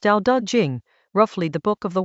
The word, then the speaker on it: Dao De Jing: Chapter 61 of the Dao De Jing — pronounced "dow duh jing," roughly "the book of the way and its power" — is about how large states conduct themselves toward small ones.